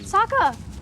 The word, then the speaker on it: Sokka: My name's Sokka. Rhymes with Aka and Waka Waka. Or is he... Sokka!